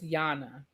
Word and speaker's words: Yana: You got to pronounce her name. It's Yana.